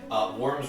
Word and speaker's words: wyrm: Worm's Rest looks like a big square instead of an alcove. And you misspell it instead of WORM, it's WYRM. Which is worm, just the wrong kind of worm.